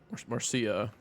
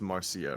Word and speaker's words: Marcia: The little boy said Marsha and it's Marcia, right? It's I guess it's Marsha.